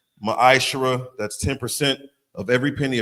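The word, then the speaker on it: מעשר: It's pronounced ma'ashara.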